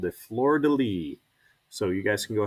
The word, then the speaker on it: fleur-de-lis: lilies are called the fleur-de-lis so you guys can go ahead and say that fleur-de-lis look at that it's the silent s rule so fleur de lis um what i want